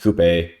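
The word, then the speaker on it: Coupé: Coop is a former assassin. Yes, I know it's pronounced Coupe.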